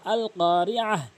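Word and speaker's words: القارعة: ওয়াকফ করলে মালকারিয়াহ, ওয়াকফ করা মানে থেমে যাওয়া, আল কারিয়াহ, এভাবে উচ্চারণ করবেন।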